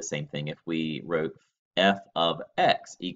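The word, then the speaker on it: f(x): here it is pronounced F ofx there is no operation there no multiplication no nothing it's just a fancy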